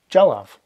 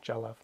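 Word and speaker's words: dealbh: Jalav. Jalav. It's a picture. It can also be a painting. Jalav. Jalav. And if you watch the BH and MH pronunciation video, there's that V sound, Jalav.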